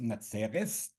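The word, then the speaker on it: נצרת: Tzadik Reish Sof, and it's pronounced Natzeres in Yiddish.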